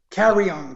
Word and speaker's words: Carrion: little hesitant on the last name how's the pronunciation on that carry on carry on carry on okay okay so it